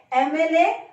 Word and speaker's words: MLA: Whenever we say MLA, what is the first sound? A. That is sound of E or A in Hindi. All these abbreviations, we have to look at the first sound of the particular word. So, MLA starts with A sound.